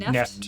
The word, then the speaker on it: NFT: Neft rhymes with theft.